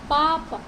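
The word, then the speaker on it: папа: पापा, पापा, इसमें भी स्ट्रेस फर्स्ट वॉवल के ऊपर है।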